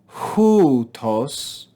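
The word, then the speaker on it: Οὗτος: Notice this is rough breathing with a circumflex accent. So we're going to go up and down on this first syllable with rough breathing. So listen carefully. Houtos ein en arche pros ton theon.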